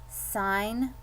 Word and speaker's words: sign: we're almost done okay sign language remember the g in the word sign is silent so right here i